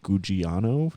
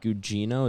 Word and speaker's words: Gugino: I always forget how to pronounce her last name. I think it's Gugino, technically. It's Yeah. Gugino is how it's spelled.